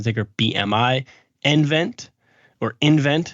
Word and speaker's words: nVent: Those three stocks are Badger Meter, which trades on the ticker BMI, nVent, or nVent, how they pronounce it.